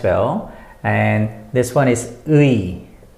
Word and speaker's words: 의: and this one is 의. 의. The pronunciation is E-U-I.